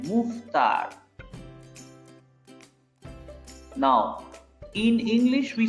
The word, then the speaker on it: Mouffetard: The E is silent, okay? After double F, E is silent. Mouffetard.